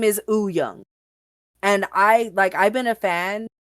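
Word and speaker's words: Wooyoung: You would think that it was pronounced Woo Young, right? Uh-huh. It's not pronounced Woo Young. It's Huh. pronounced Woo Young. The W is silent. His name is Oo Young.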